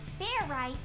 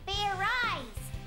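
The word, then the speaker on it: Fairize: rice spare right right it's pronounced ferrite rice in it what is this fair right thing even do talking and just shout it out just shout it out ok fair rice nothing happened I look like an idiot just now you are an idiot like I said it's not fair rice it's fair eyes do it again and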